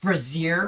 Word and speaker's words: brazier: with wood that is abrasion a razor it's pronounced brazier looks like there's something written on it want